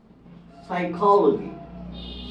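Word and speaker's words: psychology: এর পূর্বে যেমন দেখুন সাইকোলজি সাইকোলজি এখানে এস এর আগে পি আছে এটার উচ্চারণ হবে না এটার উচ্চারণ হবে না এন এর পরে কিরকম এস এর পূর্বে সাইকোলজি এখানে পি এর উচ্চারণ হবে না এন এর পূর্বে নিউমেটিক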